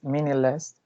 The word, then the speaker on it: meaningless: So the first word is meaningless. It got 3 syllables, and the prominent is in the first one.